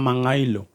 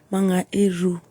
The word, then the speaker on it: Mangairu: Mangairu ama Mangailo? Mangairu. Iru. Yeah. Unajua sisi tunakuanga na hiyo chida ya matamshi ya R na R.